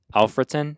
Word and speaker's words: Alfreton: The 5th we have Alfreton Town.